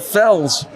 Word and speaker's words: Felix: they heard them and you don't you don't pronounce Felix Felix in Portuguese you pronounce it Fels well my last name